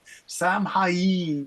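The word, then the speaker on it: Samhain: perfectly naked and Bone Sam hyen is how you say that so um you know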